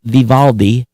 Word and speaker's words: Vivaldi: browser i'd love to hear from you again it's spelled v-i-v-a-l-d-i like all these but viva viv aldi so